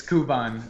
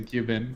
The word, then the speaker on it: Kuban: So it's Kuban, but yeah, it Okay. is basically Cuban. It's like it's a handle I use in MMOs mostly. Okay. Yeah, but I think like the way it's pronounced when you like track the etymology back, it's Cuban.